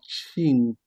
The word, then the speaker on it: cinque: Suivant, 5, qui est donc cinque. On se rappelle de la règle, C devant I se prononce ch. Cinque, cinque, cinque.